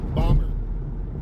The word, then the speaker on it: Baltimore: it so sad for Baltimore it really is bomber they call it Baltimore up there in bomber yeah it's Baltimore but they they call it bomber bomber look live up